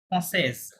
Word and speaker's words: française: বাট যখন একজন female বলবে উনি বলবে জসুই NCIS ফ্রান্সেজ, কি বলবে ফ্রান্সেজ। লাস্টে দেখেন একটা অতিরিক্ত ও বেশি আছে, তখন আপনার এস পর্যন্ত উচ্চারণ করতে হবে, তাহলে ফ্রান্সেজ হবে।